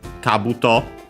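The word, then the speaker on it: 兜: Literally, Kabuto Gani is a compound from Kabuto, which means helmet, accent on the first mora, that.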